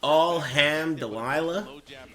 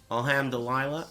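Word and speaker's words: الحمد لله: Thanks all ham Delilah. That's not right, is it? Alhamdulillah. I think it's Alkeb. Pretty close. Pronounce the M. Alhamdulillah. Dilah. Alhamdulillah. It's a hard h.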